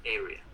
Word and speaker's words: area: Entonces, esto en inglés se pronuncia area, ¿sí?